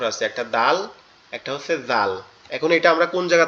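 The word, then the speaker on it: ذال: করি যে জাল, ওই জালের যেমন উচ্চারণ এটাও সেম উচ্চারণ। জাল, জাল, এটা উচ্চারণ হবে কোথার থেকে? আমাদের জিহ্বার আগা, সামনে দুই দাঁতের আগার সঙ্গে লাগবে, লেগে উচ্চারিত হবে জাল, জাল, জাল, এভাবে।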